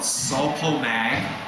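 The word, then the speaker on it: Sul-Po-Mag: But the two sources of potassium that I think are great sources, one is called sulpo mag and that's a rock. It's it's spelled out s u l p o m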